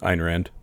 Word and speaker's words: Ayn Rand: I know that you're influenced by Ayn Rand or Rind. How do you say her name? Ayn Rand. Ayn Rand.